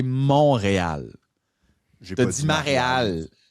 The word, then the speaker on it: Montréal: au 27 septembre là tu me prononceras pas ma réal comme Valérie Plante l' fait pendant 8 ans. C'est pas ma réal, c'est Montréal.